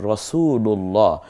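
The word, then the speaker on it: رسول الله: হয় যেমন ইতিমধ্যে একটা উদাহরণ আমরা দেখছি যেমন রাসুলুল্লাহ রাসূলুল্লাহ এই যে লাম প্রথম রাসুলু এই লামের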